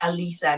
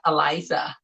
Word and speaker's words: Alyssa: Now, so sorry, your name is pronounced Alisa, not Eliza.